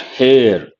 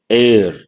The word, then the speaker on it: heir: sure you all know it is not hair air H is silent or mute mute H